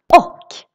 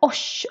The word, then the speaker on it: och: Because if you read this, you might think that it should sound like osh or och.